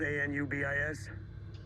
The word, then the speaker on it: Anubis: the anubis anubis spelled a-n-u-b-i-s uh-huh anubis it's pronounced anubis egyptian god of the dead like nobody sees this